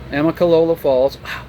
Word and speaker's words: Amicalola Falls: docked on the last video up to um amicalola falls i said it right the first time i